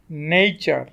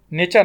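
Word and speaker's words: nature: যেমন ফিউচার, নেইচার, নেচার না, নেইচার। আবার অ্যালফাবেট টি যখন এইচ এর সাথে যুক্ত হয় তখন এটি আবার দ এবং থ দুইভাবে উচ্চারিত হতে পারে।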